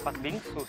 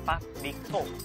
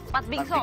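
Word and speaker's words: 팥빙수: yaitu pat Bing bukan pat bingsu Sip Kalau bahasa Korea kat pat bingso pat bingso bacanya Oh pat bingso bacanya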